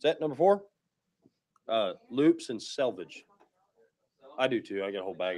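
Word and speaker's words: selvedge: Not to be confused with salvage. Selvage.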